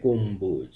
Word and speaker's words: গম্বুজ: এর সঙ্গে যুক্ত থাকে সেক্ষেত্রেও ব এর উচ্চারণ স্বাভাবিক থাকে অর্থাৎ ব এর মতই উচ্চারিত হবে যেমন বিম্ব উচ্চারিত হবে বিম্ব গম্বুজ উচ্চারণ হবে গম্বুজ নীলাম্বরী ঠিক একইভাবে উচ্চারিত